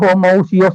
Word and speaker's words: homoousios: albasharu Janita enggak terlalu posisi bacanya ya Tapi bacanya homoousios itu berarti mereka itu tiga-tiganya ada dalam status